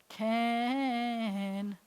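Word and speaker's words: כן: Can.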